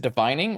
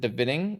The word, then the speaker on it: Divining: Is it divining or is it divinating or divining? You think it's divining?